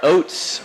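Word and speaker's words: Ouzts: he was wide open hunter oates i think is how i'm going to try and pronounce that that's right oops or oops it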